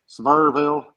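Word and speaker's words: Sevierville: You asked 10 different people up here in that area how to say it once. Suburville. Severville. Yeah. Severville. It depends on how long they've been here.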